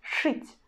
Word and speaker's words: шить: You see, we again pronounce ш in a hard way, and then we pronounce not e but u, шить, шить, шить.